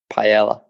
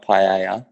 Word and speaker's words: paella: it paella is it pie AR has it's pronounced paella paella I believe yes excellent not my strong